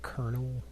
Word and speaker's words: colonel: that do you PR is that how you pronounce colonal do you say kernel I guess it's colel yeah Colonel that's somehow c o l o n l has an r in there somewhere colonal that's what when